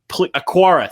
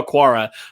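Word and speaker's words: Okwara: arc i think he's how you say it a quara thank you romeo akwara from detroit he was a pro bowl type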